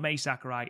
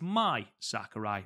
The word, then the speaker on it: Mai Sakurai: But he's just said that Mai Sakurai, which is what we've been calling her for bloody years, it's not Mai Sakurai, it's Mai Sakurai, like Mirai or Samurai.